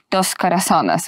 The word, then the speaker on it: Dos Corazones: I would say you're an experienced producer of big blockbuster Christian movies with your company, Dos Corazones.